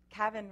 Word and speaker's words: Kavin: Kavin rhymes with Gavin.